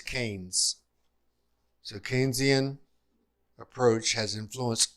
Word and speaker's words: Keynes: I'm struggling with the pronunciation of this man's name, and I think it's important. Let me get that. The pronunciation is Keynes.